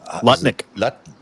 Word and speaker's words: Lutnick: Lutnick. Keep saying his name wrong now. Nutlick. Yeah. Howard Um, Nutlick I believe is his name.